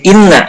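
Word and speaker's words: إنّ: Nah, ini inna dibacanya kasroh ya, bukan anna.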